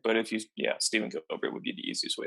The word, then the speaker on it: Guilbert: My first name is Stephen, and my last name is Gilbert. It's spelled a little bit weird.